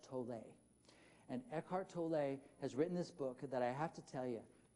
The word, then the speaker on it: Tolle: And I know it's pronounced Tolle because I Googled it. Did any of you ever wonder? He pronounces it Eckhart Tolle.